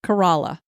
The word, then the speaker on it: Corolla: sound in the county where the town of corala is located this is spelled like Corolla like I have a Toyota Cora that's why I would have said it but it's actually locally it said carala a herd of feral Banker horses call this